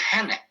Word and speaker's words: hene: Alors là, c'est pluriel, donc on va dire hene. Hevelente ene. Très bien. Il faut faire gaffe, c'est pas le H muet, on le sort hene.